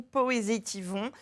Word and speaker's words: Poésitivons: Et de toute façon, on vous suit avec, votre nom, Franck Juré ou Poésétivon, comme ça se prononce, Tout être à fait.